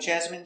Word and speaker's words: jasmine: Jasmine te very good so remember these special words ending with I ne e we pronounce them all the same in in remember medicine margarine intestine or intestines more than one genuine famine remember it's countable a famine famine and Jasmine so all of these words are pronounced with the in sound for the in turbine